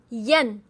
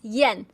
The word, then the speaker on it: yan: Y A N is pronounced as Yen.